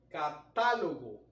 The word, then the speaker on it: catálogo: Tal el caso de catálogo. La mayor fuerza recae sobre la A y como esta sílaba es la antepenúltima, entonces debemos colocarle el acento ortográfico.